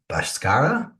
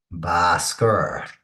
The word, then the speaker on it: Bhaskara: So today's mathematician is Bhaskara. I think it's pronounced, according to the internet, Bhaskara. And as you can see here, he was born in 1114 to 1158.